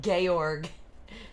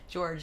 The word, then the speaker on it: Georg: georg oh i forgot she called him gayorg george sorry i'm saying it wrong it's really exciting for